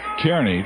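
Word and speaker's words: Kearny: pronounced I would I would pronounce it uh Kerney too I believe it is Nebraska Kerney Kerney is what I would pronounce it but he says it's Carney back there name after some guy whose name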